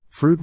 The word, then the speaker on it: Froude: Froude rhymes with dude.